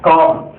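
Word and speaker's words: calm: இப்ப அடுத்து பாருங்க, அமைதியான, காம், அமைதியான காம். இங்க எல் சைலன்ஸ் பாருங்க, எல் இருக்குல்ல, இந்த எல் என்னங்க, எல் இங்க சைலண்ட், இதை உச்சரிக்க கூடாது, காம் தான் சொல்லணும், சைலண்ட்.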